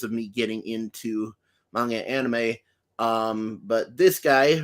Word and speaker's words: anime: of a fraud because I always say anime, and you always remind me that it's pronounced anime.